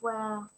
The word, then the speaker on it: were: chủ ngữ là you were not a từ này không đọc là where nhỉ, từ này đọc là we.